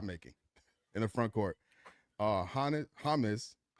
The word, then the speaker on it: Hannes: Hannes, because it rhymes with Giannis, covers 2 of those things.